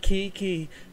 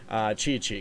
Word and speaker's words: Qiqi: took one look at that and were like, QiQi, do you love me? Like it, got that instantly stuck in my head. But it is pronounced, Chichi.